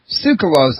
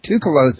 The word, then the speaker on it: Tsoukalos: It's that T and S together thing, like what's the Chinese beer? Tao? So it's got that sound to it. The TS is Tsoukalos.